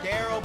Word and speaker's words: Daryl: It's spelled like Darrell, but it's pronounced Daryl.